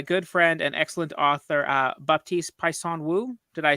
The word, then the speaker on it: Baptiste Pinson Wu: The correct pronunciation for everyone who wants to know is Baptiste Pinson Wu. Right. Which part did I mess up? The Pinson? My family name Pinson was a bit off.